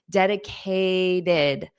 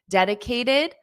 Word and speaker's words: dedicated: is pronounced as it dedicated dedicated committed you have that ID for both of them the final T is more of a soft D in American English dedicated did committed did